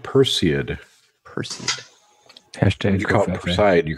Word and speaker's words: Perseid: I forgot to tell you rose because it's pronounced Perseid person hashtag office ayat you called it her